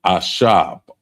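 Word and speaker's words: עשב: So we want to add uh the first one is actually herb and that's ashab. Ashab and it's spelled I s h a b.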